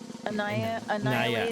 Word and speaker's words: Anaya: And by the way, I know her name is pronounced Anaya. Anaya. But I call Anya because it's just easier for me to remember her name.